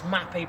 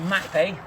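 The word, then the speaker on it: Mapei: bit I've introduced this mappe product for you this exterior grouting product you'll be able to check it out online mappe let go it's spelled m a EI you get it in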